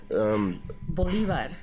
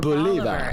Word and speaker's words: Bolivar: Bolivar or Bolivar. It depends on where you're at in the country. Bolivar. Bolivar. Bolivar is like how they say it in Texas.